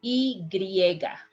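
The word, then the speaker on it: y griega: letter y in spanish the letter y is called e griega has a name and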